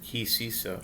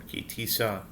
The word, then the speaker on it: Tisa: This is Shishi, the sixth reading of our weekly Torah portion of Tisa or Tisa, depending on your pronunciation.